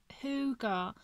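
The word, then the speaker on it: hygge: yeah i will so it's pronounced ho hooga the scandinavian concept of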